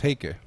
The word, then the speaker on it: Heike: I think it's Heike. Heike. Yeah. Just I read it like it's Icelandic.